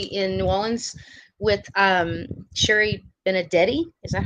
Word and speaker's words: Benedetti: I'm going to be in New Orleans with Sherry Benedetti.